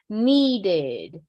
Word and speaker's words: needed: So pronounce the syllable. Needed, needed. Really pronounce that, all right?